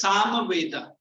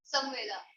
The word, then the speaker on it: Samaveda: It is Samaveda. तुम्हारा miss ऐसे ही pronounce कर रही है, ऐसे ही बोल. Samaveda. Samaveda. Samveda.